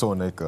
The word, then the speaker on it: Soneka: Yeah, just Soneka. Ah, Soneka. Apologies about that.